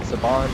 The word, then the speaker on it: Saban: To try to Saban? get, yeah. To get Or that Saban? off. How do you pronounce it?